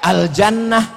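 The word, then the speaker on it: الجنة: Asa Arab ribu gitu banyak tulisannya mirip cara bacanya beda Al Jannah AL habbah aljuna al-jinn nah itu tulisannya sama semua Makanya jangan baca kitab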